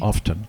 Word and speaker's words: often: saying not often and most people mispronounce that word often often there's a t often yeah that's it okay